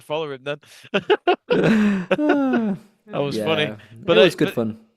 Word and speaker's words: Thun: Is it Fun? Is that how you say it? How do you say it? Thun. Oh, Thun.